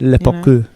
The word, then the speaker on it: parkour: How do they pronounce it? Le parkour. Le parkour. Parkour, if you're American. Parker.